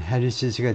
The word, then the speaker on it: Harris's: 그래서 이렇게 발음은 해리스, 이쪽은 해리시스가 되죠.